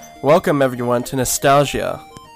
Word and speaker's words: NEStalgia: welcome everyone to nostalgia i think that's how you pronounce that except it's nes as in nes graphics today we're playing the